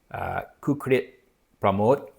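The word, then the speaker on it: Kukrit Pramoj: And this one is called Four Rains, and the author's name, I believe, is pronounced Kukrit Pramod.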